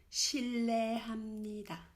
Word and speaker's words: 실례합니다: Mais si tu es obligé de déranger quelqu'un, tu dis 실례합니다. 실례합니다. 실례합니다. C'est pareil, ham, tu prononces ham.